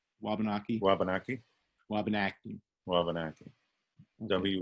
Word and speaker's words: Wabanaki: So could you clarify pronunciation? Wabanaki? Wabanaki? Wabanaki. Wabanaki. Okay. Wabanaki.